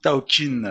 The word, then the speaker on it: Thaokine: Et Taogin Taokin Taokin, c'est comme ça qu'on prononce.